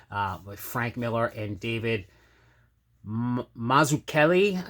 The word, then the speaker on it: Mazzucchelli: Miller and David Mazzucchelli, I believe is how you say it. I was trying to look up the pronunciation. I'm Italian too, and I'm butchering it, which is terrible. It's definitely not Mazzucchelli. I think it's Mazzucchelli is how you. I found a video of him doing some critiquing people's writing, and he of course started with the pronunciation, but pretty sure it's Mazzucchelli.